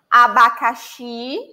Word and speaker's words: abacaxi: Abacaxi. Ó, abacaxi. The stress syllable is the last one.